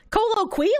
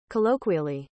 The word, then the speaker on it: colloquially: weirdos co co Colo what Colo quey that's not how it's pronounced you're lying to me Colo quy there's no way there's no way uh uh colloquially what what colloquially colloquially that doesn't sound like